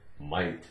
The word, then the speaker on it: might: GH is silent in the word might.